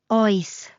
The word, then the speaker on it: Oes: palm and ask o like a friendly detective checking the fridge at midnight. When in doubt, make your choice. Just ask out loud. O. It even rhymes with choice.